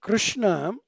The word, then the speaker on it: Krishna: It is Krishna, it's not Krishna, It is actually Krishna, but Krishna being the supreme person, and we often take his names.